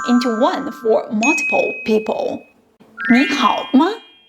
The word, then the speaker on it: 你好: When combined, the tone of 你 changes. 你好 changes to 你好.